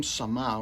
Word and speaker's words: Sama: tell me, you have some experience with the, how do you pronounce it, Sama people? Yeah, it's the Sama people.